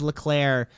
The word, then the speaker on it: Leclerc: you'll say my name's Leclerc. The second C is silent.